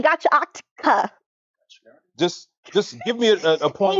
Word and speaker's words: Gachiakuta: I almost said Gachakuchi, and I know that's not how you say it. Gachiakuta?